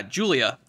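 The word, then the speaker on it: Giulia: it has oh alberto luca and julia yeah julia that's how you pronounce that girl's name and yeah let me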